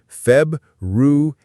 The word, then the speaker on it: February: While it's spelled with two R's, in common pronunciation, one of them often vanishes like a shy ghost. The most widely accepted pronunciation is Feb-ru-er-ri. The first R is almost always softened or dropped. To remember it, think of it as Feb-ru-eri, where the first R is on a short holiday.